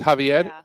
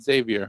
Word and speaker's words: Xavier: Oh, he pronounces it Javier, not Xavier, I think right?